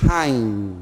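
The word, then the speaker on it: עין: É o Ain. Ain, olha só. Na verdade, ele é um Hain, né? Porque ele é escrito justamente com ele mesmo. Esse apóstrofe, ao contrário, indica essa letra, essa aspiração forte.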